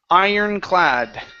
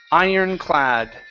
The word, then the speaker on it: ironclad: okay um all right this word here is pronounced Ironclad Ironclad Ironclad okay one more time instead of iron